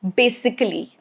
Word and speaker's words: basically: So A is silent when it comes in this formation, ically.